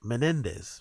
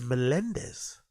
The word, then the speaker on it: Menendez: the easiest to pronounce like Menendez right that that should be an easy enough name for anyone even if you're not Spanish speaking to pronounce he says Melendez Netflix never lets me